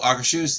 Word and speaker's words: Akershus: Oh, Akershus? Yeah, that is the way to say it.